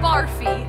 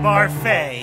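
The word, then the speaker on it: Barfée: season's tragic setback William barfy it's pronounced barfa there's an accent a h I'm not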